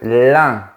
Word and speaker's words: lin: Et le tissu, c’est le lin, avec un grand sourire.